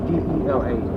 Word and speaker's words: дела: D-E-L-A. Okay. Как dela. Как дела? Okay. Dela. Make the stress on the last syllable.